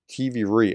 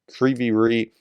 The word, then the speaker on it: Kryvyi Rih: Russian strikes on Kryvyi Rih. I'm mispronouncing that. I heard Greg Terry pronounce it properly, and now I realize I'm mispronouncing it. Kryvyi Rih.